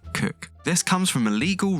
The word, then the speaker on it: Coke: 49 For a man's house is his castle That was Edward Coke - it looks like 'Coke' but apparently we pronounce it 'Cook' This comes from a